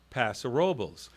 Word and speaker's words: Paso Robles: By most people that live on the coast around that area in AG, in San Luis, and all around there, most people, they do say Paso Robles.